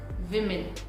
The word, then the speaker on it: women: Again, people pronounce this word as women. Women. V sound is not there, W sound is there. So we pronounce it women.